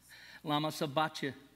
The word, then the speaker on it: sabachthani: In Aramaic, he says, Eli, Eli, lama sabachthani.